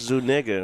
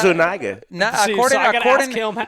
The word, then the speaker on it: Zuniga: Zuniga. Yeah. Huh? That's Zuniga right there. Yeah. That's Zuniga. According to Chad. Chad says it's pronounced just like it's read, because he was that?